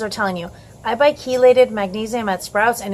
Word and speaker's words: chelated: CH e la de d the CH is pronounced like a cake chelated so chelated magnesium is the most bioavailable and